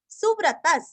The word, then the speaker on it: सुव्रतः: सुव्रतः सुरस्व, व्रत के आगे विसर्ग का आधा स, सुव्रतः।